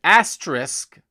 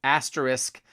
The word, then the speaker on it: asterisk: guys recently I've been getting bothered by the mispronunciation of asterisk and height everyone and I mean everyone says asterisk asterisk oh yeah instead of asterisk asterisk and